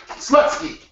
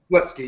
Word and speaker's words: Slutsky: Slutsky, yeah, like a slut. And ski. And ski.